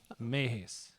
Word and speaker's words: Mehesz: your last name because you never say it Mees Mees Mees Mees that's not that bad no